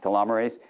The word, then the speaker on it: telomerase: Telomere ACE, pronounced telomerase, is an enzyme that repairs and maintains the ends of your chromosomes.